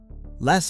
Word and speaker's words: les: Les on its own, the S is completely silent.